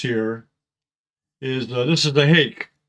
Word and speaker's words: Hake: Now, one of the new brushes I want to introduce here is this is the Hake. It's spelled H-A-K-E, Hake.